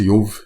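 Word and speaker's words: איוב: Que a pronúncia Yov, a palavra Jó, aqui embaixo, significa perseguido,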